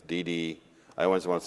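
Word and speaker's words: DiDi: talk about that and I've always pronounced it incorrectly it's Dede I always want to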